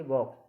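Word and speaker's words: walk: WAL के वॉक, यानी कि इसमें के से पहले एल आ गई तो इसमें क्या होगी, एल साइलेंट है।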